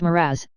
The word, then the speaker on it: mirage: Mirage is pronounced miraz, said Valency shortly, picking up her tea and her beans.